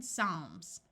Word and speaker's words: psalms: F like in laugh when a word starts with PS the p is silent like in Psychology notice the CH uses its second sound of c and in Psalms when a word starts